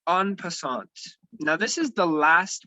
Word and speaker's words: en passant: So the last rule, the last move is called en passant. So I wrote it in the chats. That's how you spell it.